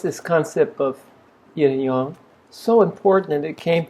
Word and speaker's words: Yang: So the a I don't know why they spell it with an a but here in Taiwan we would pronounce that yong.